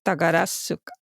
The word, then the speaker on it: Takarazuka: Esa U no suena, es Takarazuka.